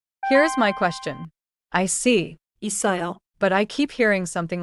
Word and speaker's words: 있어요: The middle sound is strong, like 있어요. 있어요.